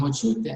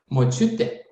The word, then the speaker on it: močiutė: Because we say (pronounce) 'močiūtė". And we have to say (pronounce) 'močiutė'.